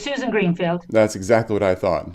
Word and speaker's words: Susan Greenfield: So, will you say your name exactly the way it's pronounced so that I don't get it wrong? It's Susan Greenfield.